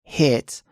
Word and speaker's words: HIIT: So when we spell it, although it's pronounced HIIT, the spelling is actually HIIT with two I's instead of one.